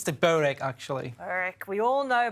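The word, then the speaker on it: Börek: Or what's the real way of saying it, the Turkish way of saying It's it? Borek. Borek. OK, got it. Borek. Can't believe I've been saying it wrong this whole time.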